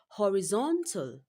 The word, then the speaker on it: horizontal: You are to choose the correct stress pattern for the word horizontal. Horizontal. Remember when you are pronouncing the word wrongly you will not be able to identify where the stress falls.